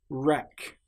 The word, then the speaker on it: wreck: Sometimes the letter W will appear before the letter R. Right. Wreck. This shows that the letter W is completely silent.